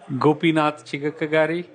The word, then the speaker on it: Gopinath Chigakkagari: bit different how do you say your name gopinatha chica kagari awesome you can call go pee go pee